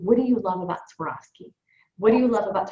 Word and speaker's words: Swarovski: knows how to say Swarovski. So I went skiing and I fell and I broke my leg, so I swore off skiing.